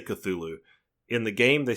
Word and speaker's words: Cthulhu: I have tried Call of Cthulhu on Xbox Game Pass, which I will have to say, I always say Cthulhu.